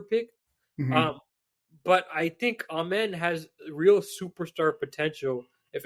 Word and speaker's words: Amen: By the way, I know I've been pronouncing it wrong the whole time, and I'm gonna get better at it. Someone told me on Twitter that I've been pronouncing it wrong, and I think Jonathan corrected me on a podcast, and I still continued. So I know it's Amen. I believe it's Amen.